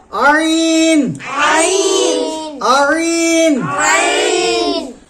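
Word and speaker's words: عين: ত ত জ জ আইন আইন আইন আইন কন্ঠনালীর মধ্যখান হইতে উচ্চারিত হবে আইন আইন গইন কেমন উচ্চারণ হবে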